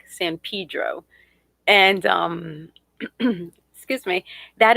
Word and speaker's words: San Pedro: san pedro okay and it's a latin word so it's san pedro and people are always correcting me because i want to say it in spanish it's like colorado growing